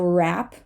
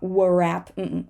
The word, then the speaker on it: wrap: low draw ah draw the W before an r at the beginning of a word is all pretty often going to be silent so wrap wrap not rap rap wrist this is your